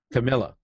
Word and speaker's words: Camilla: a while so I don't mess it up Camila yeah I said it right yeah you got